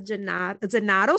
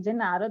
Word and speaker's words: Zennaro: And I'm already smiling about what you're saying because most people from Southern Italy call me Gennaro, that is a Neapolitan famous surname.